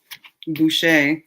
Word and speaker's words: Boucher: Um, my last name is Busher and so it's B O U C H E R. So, Boucher, Booker, B.